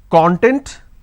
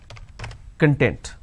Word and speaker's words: content: I can either pronounce this as content or I can pronounce this as content. So, content, content.